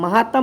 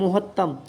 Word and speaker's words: महत्तम: महत्तम बज गलिया राते महत्तम महातम नहीं महत्तम उ जो है उ